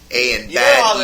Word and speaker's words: Ayanbadejo: So it's pretty much saying A and bad Ejo. So he's a bad motherfucking Ejo. A and bad Ejo.